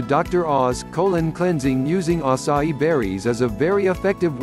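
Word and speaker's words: açaí: Acai, pronounced as acai, is a nutritious berry grown from a palm tree in the Amazon rainforest.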